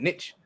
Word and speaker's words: niche: niche same damn word you say nietzsche niche niche i said niche round snitch is the pronunciation [